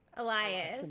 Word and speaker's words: Elias: But it's not Alliance. Elias. It's an Elias. Elias.